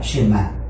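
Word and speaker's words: שמע: La primera palabra del Shema es oye o escucha, y en hebreo se pronuncia Shema.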